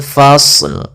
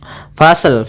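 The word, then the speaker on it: الْفَصْلِ: Nah, kemudian dalam lafal ini, ini kita sempurnakan dulu huruf shadnya yaitu kita fa ketemu dengan shad. Shadnya tebal fasl fasl fasl ya. Kemudian baru dimatikan lamnya. Tapi hati-hati jangan memantulkan shadnya fasl. Misalkan fasel fasel gitu ya dengan pantulan shadnya hati-hati.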